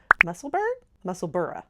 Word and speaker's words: Musselburgh: new White House in Musselburgh, sorry. Us Americans say Berg, they say Borough.